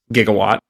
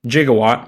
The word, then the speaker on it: gigawatt: as a gigawatt however there was apparently a mixup about how to pronounce gigawatt and hence the pronunciation jigawatt was born perhaps if they had